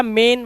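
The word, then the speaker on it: main: देखो यह क्या है एम से क्या बना मा और एन से बना ना और ए आई क्या है एक की मात्रा तो ये हो गया मेन वो लिखा है ना मेन इसी तरह से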